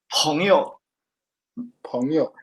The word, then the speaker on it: 朋友: So this peng is not is a bit different from this peng actually. It's confusing. And it's just this is the only word that sounds like that. 朋友.